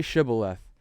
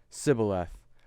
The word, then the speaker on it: shibboleth: have to kill you he says say shibboleth and then he replied sybil f so he smote them